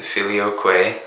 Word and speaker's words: filioque: was changed by Rome the filioque that's how it's pronounced which means it was